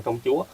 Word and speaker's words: Công Chúa: Công Chúa chữ này đọc thì là Chúa hoặc Chủ, nhưng mà trong lúc này đọc là Công Chúa Đó!